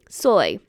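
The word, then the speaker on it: Zoi: name z o i remember that Z is an S sound soy it's pronounced the same way as soy as an s o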